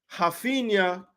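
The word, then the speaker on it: Raphinha: got the start I should say it correctly haena I was surprised when he got the start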